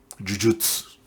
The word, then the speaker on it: Jujutsu: Jujutsu. Okay. Yeah, I can pronounce it right, but I haven't used Japanese in the longest time, so fuck it.